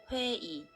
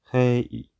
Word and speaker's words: 회의: but when it comes at the end of a word, it's pronounced as 이. 회의. 회의. 회의.